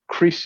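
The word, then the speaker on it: kris: like swishing sound of the crease and that crease is spelled k r i s um and the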